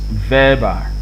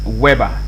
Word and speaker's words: Weber: right by max weber this name is pronounced verba all right verba like this verbal okay not weber not max weber you